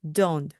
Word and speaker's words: don't: 이때 don't 하고 t 발음 안 하셔도 되고요. 그냥 don't 하고 말씀하시면 되고요.